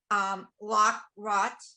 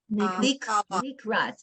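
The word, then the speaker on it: לקראת: Lock rot. Likrat.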